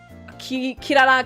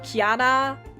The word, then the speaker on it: Kirara: They start pronouncing the names differently, because in the original German dub, for example, they called Kirara, Kiara, like some names they pronounce them differently.